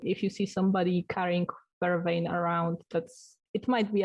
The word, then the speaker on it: vervain: ridiculous like urban officinalis vervain i think it's pronounced is it it's probably vervain um it's actually called